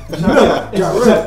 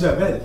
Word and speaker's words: Jarrell: Jarrell. It's Jarrell. That's the proper way to pronounce it, man.